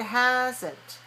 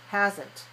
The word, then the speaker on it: hasn't: when we think about this word hasn't two syllables the first one is stress the second one is weak hasn't so that's a schwa sound hasn't and for you and